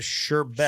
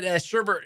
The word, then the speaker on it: sherbet: oh no it's it's I was right it's without the r the correct spelling is uh sherbet sherbet but Sherbert is a you can also call it sherbet all right anyway means